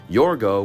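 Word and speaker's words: Yorgos: Cinema should be nowadays absolutely creative and inventive yorgo which apparently that's how you pronounce his name Emma Stone said so but yorgo wanted to make the film back in 2009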